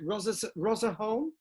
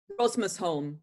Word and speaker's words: Rosmersholm: Can you tell us a little bit about, if I'm pronouncing it correctly, is it Rosmerholm? Rosmersholm.